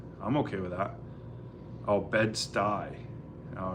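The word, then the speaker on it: Bed-Stuy: Oh, bedsty. Oh, it's pronounced bedsty.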